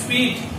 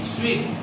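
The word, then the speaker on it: suite: This spelling is एस यू आई टी ई. And pronunciation of this स्वीट it will be स्वीट.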